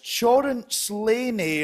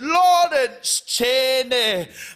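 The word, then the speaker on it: Lawrence Chaney: used to do gigs people didn't know how to pronounce my name people would say yeah that's chorus laney or you know larry chansey and then all because rupaul said laurence cheney my life has changed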